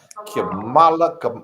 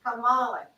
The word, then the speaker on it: Kamala: Speaking of Kamala, how you pronounce her name? Kamala. How you say it, Nadine? Kamala.